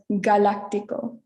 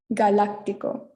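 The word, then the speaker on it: galáctico: is the second word this is followed by an a so it takes um the english pronunciation so it's galactico galactico and our third one is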